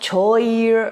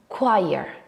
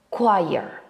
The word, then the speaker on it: choir: The right way to pronounce this word is choir, choir. My technique to remember the right pronunciation is think of the word quiet and see that they are pronounced almost the same apart from the end.